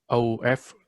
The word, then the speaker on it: of: mọi người lưu ý cô vừa mới nói rằng là chữ of, đọc là of, cái âm f đấy đọc là